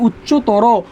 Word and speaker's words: উচ্চতর: দেখো এখানে বলছে শব্দের শেষে যদি তর, তম এবং আন প্রত্যয় থাকে, শব্দের শেষে তর, তম, আন প্রত্যয় থাকে, সেক্ষেত্রে অয়ের উচ্চারণ কি হয়? ও হয়।